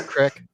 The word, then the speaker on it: creek: ] dowsing rod and is it pronounced to Crick it's a crick it's a crick I'm